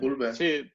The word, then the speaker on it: Ulver: No et pronuncia la R? No, ho he buscat, ho he buscat. Oh, hòstia, no ho sabia. Sí, Ulver.